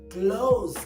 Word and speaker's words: clothes: Now, c l o t h e s is the same thing we pronounce when we tell someone to shut the door. Like we say, close the door. Close the door.